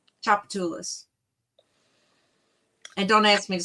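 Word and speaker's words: Tchoupitoulas: God or you know chapatas the street it starts with a T not a c so chapatas chapatas and don't ask me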